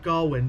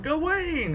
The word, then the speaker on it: Gawain: So when we were reading, Sir Gawain, how do they pronounce it in the movie? Gawain? Yeah. They said Gawain, but at school they were like Gawain.